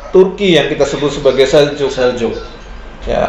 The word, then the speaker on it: Seljuk: yang kita sebut sebagai Seljuk. Ya, ada yang bilang Seljuk, ada yang Seljuk. Ya, tulisannya Seljuk, tapi orang-orang bacanya Seljuk.